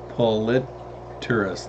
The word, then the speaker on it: Polypterus: Kind of the Polypterus, which is actually pronounced as Polypterus. The second P is silent.